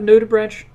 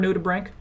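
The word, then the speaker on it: nudibranch: The pronunciation of nutubbranch or nutubbrank is contentious, but it seems most marine biologists use a hard C.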